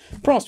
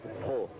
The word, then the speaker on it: Prost: When I was young it was Pro. Yeah. And then when I started to go motor racing it was Prost, because I think it was easier for them to pronounce that.